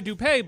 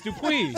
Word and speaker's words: Dupuy: I thought it goes by Dupay, but that is not the pronunciation of that. It's Dupuis. Get me that audio.